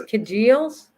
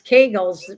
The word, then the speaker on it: Kegels: we're talking about this congeals kegels i say congeals and she says kegels it's kegels pronouncing it i don't say